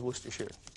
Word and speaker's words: Worcestershire: A gal from Boston wrote me a note, was just really complaining about my pronunciation of Worcestershire sauce. But there's no such thing. It is Worcestershire.